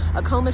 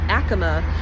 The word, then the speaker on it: Acoma: And another little fun fact, so we all know this as Acoma Street. It's actually pronounced Acoma, um, and that is named after an ancient